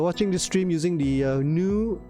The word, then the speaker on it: GNU: this stream using the new gnu it's pronounced new iscap browser uh is